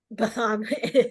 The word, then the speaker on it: Bethann: And do we pronounce Well- it Bethann or Bethann or? Bethann.